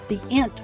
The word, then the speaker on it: int: You'll store their answers as variables, and then you'll convert these answers into numbers using the int function, pronounced int, like the word hint. It's short for integer.